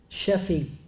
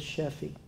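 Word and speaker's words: Sheafe: The book was about a man by the name of Louis Sheffey. I may be mispronouncing his last name, but it's spelled S-H-E-A-F-E.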